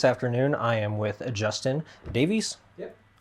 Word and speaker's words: Davies: This afternoon, I am with Justin Davies. Yep. Sometimes when it's spelled the same way, people say it's like Davis.